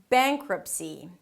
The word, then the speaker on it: bankruptcy: So it's not "beink-rahp" - "beink-r'p". Close it with a P.